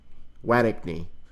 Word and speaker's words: Wattigney: Amen removed Wattigney, that's how it's pronounced, Wattigney, from public ministry last